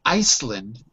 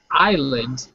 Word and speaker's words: island: problem if you say if you say Iceland that's the name of a country sorry Iceland is the name of a country island to make sure that it's really clear right has no initial S it's it's silent I'll just make a